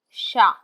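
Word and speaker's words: chat: the French word for the cat will be shown as Sha s h a sha this pronunciation guide shows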